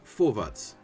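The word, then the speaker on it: Vorwärts: It is pronounced forvat as in the German word for forwards.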